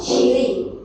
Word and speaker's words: qi: Another way to remember this pronunciation, you can use this cheese. Okay, cheese or chili, chili. So we relate this qi with the chili, chi.